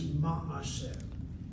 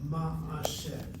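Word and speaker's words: מעשה: It was closed and was part of a closed syllable, but people kept on saying maaseh, maaseh, maaseh. They opened up that shvanah to a shvanah, maaseh.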